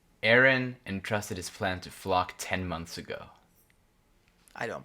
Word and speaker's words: Floch: I think it's Flock. Flock.